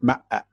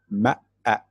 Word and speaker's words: ma'a: See, verb to see, but I call it ma'a. Okay, if you, here is how to say it, ma'a, ma'a, because we still use this word in our modern time.